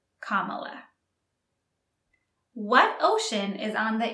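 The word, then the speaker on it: Kamala: States now kamla Harris comma Harris and be careful with the pronunciation it's comma what ocean is on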